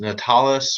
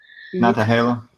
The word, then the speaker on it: Nantahala: I think is it Natalis, or you pronounce that? Nantahala.